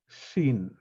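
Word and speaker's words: שין: Again, it's not S and it's not SH, it's Shin, Sdera.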